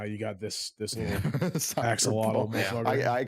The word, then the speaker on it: axolotl: furry axolotl. Yep. How do you say that? How do you say Axolotl.